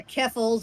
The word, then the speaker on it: Keffels: um now uh first he what is it keffels is that how you say it yeah keffels or as like uh the ralpha male says